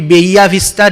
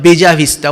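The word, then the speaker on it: Bella Vista: what we have in bija vista sometimes the other pronunciation will be bahia vista double l uh neutral pronunciation will be baya but we call it beja vista what does it mean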